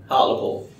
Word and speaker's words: Hartlepool: Hartlepool. Hartlepool. But don't pronounce the E as heavily. Hartlepool. Hartlepool.